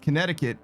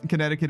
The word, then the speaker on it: Connecticut: One of the C's in Connecticut is silent.